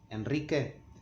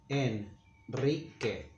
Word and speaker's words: Enrique: And it's a special case when it's preceded by the letter N, as in the name Henry, Enrique, we make it strong, but we write only one R. Enrique, Enrique, and we say Enrique.